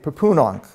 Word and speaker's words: Pepunonk: We know from the Delaware Munsee language that he would have spoken that the main accent is on the second syllable. So just think papoose or something like that, Pepunonk. And the H is largely silent in the way that I'm going to do it, but you can see